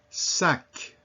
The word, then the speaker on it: sac: So among those that are usually pronounced are the C. Repeat after me. Bac, mec, sac.